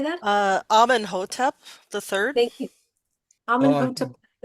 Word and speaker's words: Amenhotep: Mary Magdalene, Shamus of the Asasani, Mother Gaia, Amenhotep. Did I say that right, Wendy or Susan? Sorry, Amenhotep. How do you say that? Amenhotep the third.